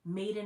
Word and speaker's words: Madein: to be spelled like Made in America. It's going to be spelled Madein, so it's Made In.